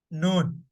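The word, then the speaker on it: نون: For example, noon, noon. For me to pronounce noon, like it has to come out through my nose.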